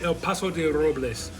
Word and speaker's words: El Paso de Robles: I'm not saying it right. Say El Paso de Robles.